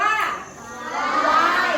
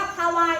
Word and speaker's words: ควาย: ออก เสียง หรอ คะ การ ออก เสียง ของ เรา ออก ยัง ไง คะ คำ ว่า ควาย นั่น คือ การ สะกด พอ ออก เสียง ออก เสียง ว่า ควาย เห็น ไหม คะ ค ว จะ ไป ด้วย กัน เลย มี ใคร อ่าน ออก เสียง ว่า ฮาวาย บ้าง ไหม ฮาวาย ของ ขา หนู เห็น คาวา อยู่ ใน หน้า ได้ ไหม คะ แบบ นี้ เออ ต้องการ ออก เสียง รอบ ควาย ดู คำ ต่อ ไป